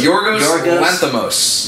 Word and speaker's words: Yorgos Lanthimos: No, it's directed by, how do we say his name? So Yorgos Lanthimos.